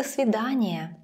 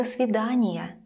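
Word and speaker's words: до свидания: really means date the svidaniya let's compare does after the svidaniya does after the svidaniya almost the same but it never sounds like dough and when the word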